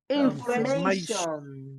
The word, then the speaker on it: information: The stress, la mayor fuerza de voz, the stress is always on the syllable before them.